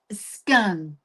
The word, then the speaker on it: scone: Skun.